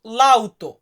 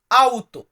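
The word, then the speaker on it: auto: গাড়িকে আমরা কি বলবো গাড়িকে আমরা ইতালিতে বলবো লাউতো আসলে লাউতো শব্দটা আমরা বলি সব জায়গায় বাট লাউতোর সাথে কিন্তু কার্তিক যোগ আছে মানে সঠিক উচ্চারণে আমরা বলি হচ্ছে আউতো অনেক ক্ষেত্রে গাড়িটাকে মাক্কিনা উচ্চারণ করা হয় তো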